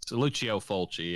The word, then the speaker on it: Lucio Fulci: I'm not that sure if that's how you pronounce it. Yeah, it's Lucio Fulci.